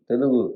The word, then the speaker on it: Telugu: Telugu, correct? Yes. I pronounced it correctly?